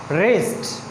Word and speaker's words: wrist: यहाँ पे silent letter है। नेक्स्ट देखें WRIST, this is रेस्ट, very good, रेस्ट, okay.